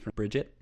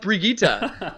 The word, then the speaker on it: Brigitte: newest character um Jamie I believe it's Bridget it is pronounced Brigitta she is from I